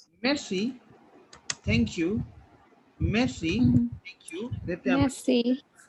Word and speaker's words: merci: Like we don't pronounce R in, like we say mercy, like we don't pronounce R, right?